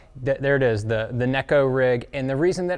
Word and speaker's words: Neko: it is definitely the necco rig it is not the nico rig it is fun to say the nico rig and that's okay if you want to still say it like that it doesn't matter but